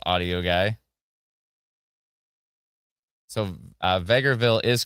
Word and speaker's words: Vegreville: So, Vegreville is correct. It's calmed down in north north of Edmonton. Thank you so much. Appreciate the report. Said it right the first time. That's what I thought. Vegreville, right?